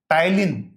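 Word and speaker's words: ptyalin: टाइलीन पी टी वाई एल आई एन इसमें P silent होता है। टलिन इसे हम डिक्टेट करते हैं।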